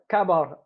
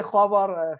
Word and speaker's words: khabar: And by the way, kabar, do you say khabar fitri or you say kabar? Apa khabar. Do you say kha? Khabar.